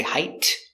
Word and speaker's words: height: about 5'9 average height stop T we don't say height say height put the tongue up and stop the air height he was average